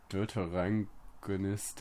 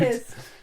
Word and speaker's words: deuteragonist: it's the Deuterangonist. It's not a German word. It's not a German word. Deuteragonist. Oh, of course. Every Deuteragonist.